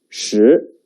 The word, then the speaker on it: 十: The pronunciation is 十.